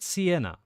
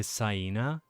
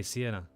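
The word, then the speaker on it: Siena: the the area yeah like the italian thing like i wouldn't be surprised that pl if plenty of people in the us pronounce it automatically cyena like a hyena but that's that's just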